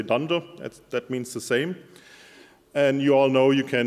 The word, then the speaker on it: dunder: they are pronounced so not underscore underscore underscore underscore just say dunder that means the same